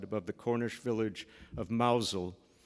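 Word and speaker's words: Mousehole: the Cornish Village of mausole that's spelled Mouse Hole by the way Megan and I lived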